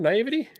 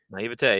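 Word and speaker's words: naïveté: Naivety? Naivete. Yeah, you got it. There we go. I was decided wrong. Just, It's yeah, just all that it was. emphasis the wrong syllable.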